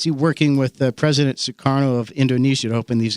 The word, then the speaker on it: Sukarno: by the Federal Reserve some publications spells soekarno a certain way but anyway that's basically how it's how it's pronounced is sukarno the agreement would have